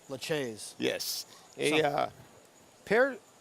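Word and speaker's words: Lachaise: just glad that you helped me and paulie pronounce the seven's name laches yes a uh pair laches a uh a sculptor way back in the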